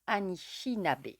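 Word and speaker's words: Anicinape: et si on nous montre comment ça se prononce Annie chinabé voilà il y avait juste de le dire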